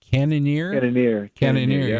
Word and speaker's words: Cannonier: And I want to say his name correctly, Cannonier. Cannonier, yeah, Jared Cannonier.